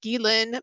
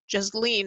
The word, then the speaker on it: Ghislaine: But the biggest one that I've really been following is the Ghislaine Maxwell, and yes, that's how you say her name. I always thought it was Jasleen or something like that.